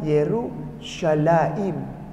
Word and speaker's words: Yerushalaim: Tulisannya begini huruf Ibraninya. Bacanya Yerushalaim. Ini mim belakang.